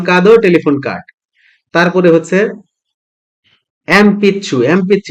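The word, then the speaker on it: えんぴつ: হচ্ছে এমপিছু এম পিচ্ছু এটার উচ্চারণ কিন্তু এন পিছু না এইযে প এর আগে ন থাকলে ম উচ্চারণ হয়ে যায় এটা হচ্ছে যদিও রোমা যদি লেখা এন পিছু কিন্তু এটার উচ্চারণ হচছে এমপিছু এটা আপনারা স্পেলিং এন্ড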